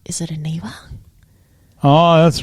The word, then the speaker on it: Aniva: And you were like, "Is it Aniva?" Oh, that's right. It's because it's a little bit different. Aniva. It is Aniva.